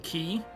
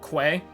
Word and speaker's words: quay: so it's a golden key it's like the only know reason I know that that word is pronounced like key and not Quay oh nice helmets no